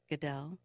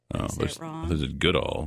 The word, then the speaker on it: Goodell: the information's out there Goodell Goodall I was like who the hell is Goodall he said his name wrong um yeah I just